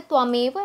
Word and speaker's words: त्वमेव: बंधु च सखा तमेव है ये प्रोनाउंस है त्वमेव लेकिन बच्चे के लिए आसानी तमेव होगा ना इसलिए वही सिखा रही हूं त्वमेव तम तम